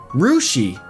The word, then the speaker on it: Russia: And they also have Russia, Ohio, pronounced like Rushi.